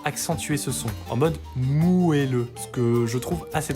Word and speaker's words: moelleux: Vous aurez déjà peut-être remarqué que certaines personnes prononcent ce mot moelleux, avec le son A, en contraste du son E. Et bah, c'est pas anodin, parce que ce qu'il faut savoir, c'est que la prononciation originelle, qui date des 15e et 16e siècles, était avec un E, et ça s'écrivait moelleux.